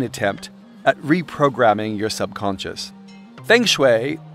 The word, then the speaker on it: feng shui: at reprogramming your subconscious feng shui apparently pronounced Foom shui but who really freaking knows has a much longer